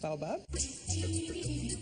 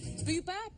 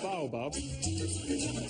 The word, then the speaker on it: baobab: This one here is baobab. Boobab bar? The baobab. Always be careful how we pronounce this tomorrow, I'll tell you.